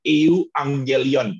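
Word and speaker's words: εὐαγγέλιον: Nah, kalau dalam bahasa Yunaninya, itu cara bacanya adalah euangelion.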